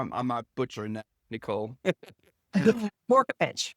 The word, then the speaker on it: Vorkapic: Her name is Nicole Vorkapic, or in New Orleans, we would actually pronounce it properly. It's Vorkapic. Am I saying, or am I butchering that, Nicole? Vorkapic. Vorkapic.